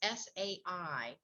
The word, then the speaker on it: Sai: not sure how to say, the name is S-A-I. Do we pronounce that? Say? I'm not sure how to pronounce that. Can you help me out? Yeah, Kathy, you're right. That's Sai.